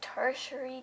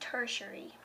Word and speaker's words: tertiary: supposed to be pronounced tertiary to you it looks like territory territory that looks like how it was pronounced but the internet says this will be pronounced tertiary so we're moving on